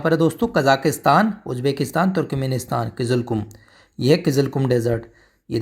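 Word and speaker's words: Kyzylkum: यह है किज कुम क्या इसको प्रोनाउंस करेंगे ठीक है जी कजाकिस्तान में ही है किज कुम याद याद रखो किजल कुम किजल कुम ठीक है नाम भी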